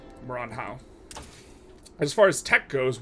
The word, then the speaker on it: Maranhão: mines up here in Maranhão. That's not Asian. I pronounced it like it was an Asian. Maranhão.